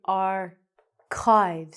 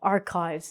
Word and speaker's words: archives: Um but we say archives. So again, the c h, the h is silent and the c sounds like a k. So oh, archives.